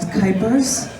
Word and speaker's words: Kuypers: My name is Kuypers. Rhymes with hyper, though I won't be hyper right now.